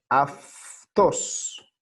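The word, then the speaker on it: αυτός: Se lee aftos, aunque se escribe autos. ¿Por qué? Porque acá hay un diptongo.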